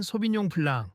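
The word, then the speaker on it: 소비뇽 블랑: 게다가 소빈용 블랑, 정확히는 소빈용 블랑, 소빈용 블랑 또 발음이 우습게 들리던데 제대로 말해보시죠.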